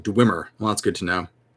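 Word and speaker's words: dweomer: give appropriate percentages uh kevin says that it's pronounced dwimmer well that's good to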